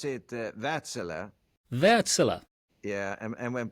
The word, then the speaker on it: Wärtsilä: I've always wondered pronounce it Vatel.